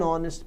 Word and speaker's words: honest: É claro que as palavras que nascem dessas também têm o H mudo. Por exemplo, a palavra honor pode gerar a palavra honorável, honorable, daí o H continua mudo.